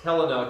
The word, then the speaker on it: Helena: It's like, it's supposed to be pronounced Helena. Make sure you pronounce it correctly. I don't want any of you South Georgia kids pronouncing it the wrong way. And she told us the wrong way. So anyway, it's Helena according to the people in Helena, Montana.